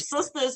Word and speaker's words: Sistas: Yes, BET, Tyler Perry's Sisters, and Sisters is spelled SISTAS. It's Tyler Perry's Sisters, and it's about 4 Black women in their 30s growing up in their lives in the 30s, basically.